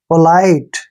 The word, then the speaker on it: polite: जब भी लास्ट में ई आएगा उसको प्रोनाउंसिएशन हमने नहीं करना है। पोलाइट, ऐसे पढ़ते हैं इसको, पोलाइट।